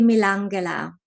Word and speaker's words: Milangela: you might call it, Milangela or Milangela. How do I pronounce in Slovenian? That would be Milangela. Milangela.